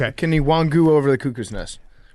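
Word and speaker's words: Kene Nwangwu: Kenna Wangu. Okay. Kenny Wangu. Okay. Kenny Wongu over the cuckoo's nest.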